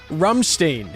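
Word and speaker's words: Rammstein: like it it's fine how did you pronounce Ramstein rumstein is how all the Germans keep telling me to say it this is yeah I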